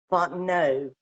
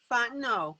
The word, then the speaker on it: Fontenot: By the way, ILene, let me tell you first, my name is actually pronounced Fontenot. It's French Cajun, and the T is silent. Okay. Fontenot.